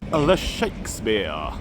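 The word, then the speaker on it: Ye Shakespeare: The Shakespeare. Spelt Y-E, but I said I am reliably informed that it is how you say it.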